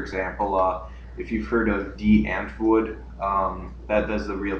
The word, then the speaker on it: Die Antwoord: For example, if you've heard of D. Antwoord, that's the real pronunciation.